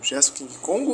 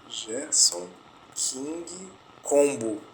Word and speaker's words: Gerson King Combo: Gerson King Congo ou King Combo? O cara faleceu, o rei do funk, né? Gerson King Combo.